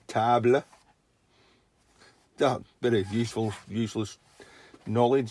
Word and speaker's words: table: a table you know tables the same word in english as it is in french but in french you pronounce it tabla bit of useful useless